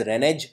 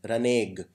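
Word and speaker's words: renege: next is reneg please note this word is pronounced not as renage but as R okay so this is the pronunciation raneg it means when you go back on a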